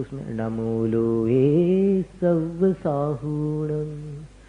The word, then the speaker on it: सव्वसाहूणम: नमो लोए सव्वसाहूणम, हु दीर्घ होना चाहिए।